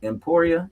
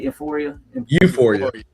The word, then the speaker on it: Euphoria: Emporia? Am I saying that right? Euphoria.